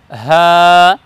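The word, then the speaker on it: حاء: এই বর্ণকে আমরা উচ্চারণ করব হ্যাঁ, হলকের শুরু থেকে উচ্চারণ করব হ্যাঁ হ্যাঁ।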